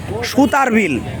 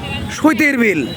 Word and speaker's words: সুতার বিল: অনেকে ব্যঙ্গ করে কি বলে ভাই, সুতির বিল। যারে প্রোনাউন্সিয়েশনের সমস্যা, যারা একটু মনে করেন যে little learning is a dangerous thing, অল্পবিদ্যা ভয়ঙ্করী যাদের, তারা বলে সুতির বিল। আসলে কিন্তু সুতির বিল না, এটা সুতার বিল।